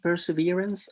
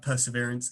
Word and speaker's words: Perseverance: probe on mars um which i think is pronounced perseverance i keep messing up where the accent is thank you um so